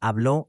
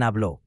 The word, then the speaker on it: habló: Notice the accent marks on hablé and habló. These aren't optional decoration. They actually change which syllable is stressed, and without them, the word can be confused with a different tense.